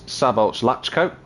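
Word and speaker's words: Szabolcs Laczkó: So that is Sabolch Lachko in the provisional pole slot at the moment by less than a tenth of a second.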